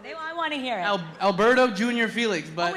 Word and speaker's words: Alberto Jr. Felix: Alberto Jr. Felix.